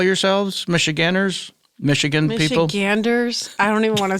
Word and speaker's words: Michiganders: Michiganders? I don't even want to say it. It feels bad. No, there was no D in my pronunciation. Michiganders. There needs to be.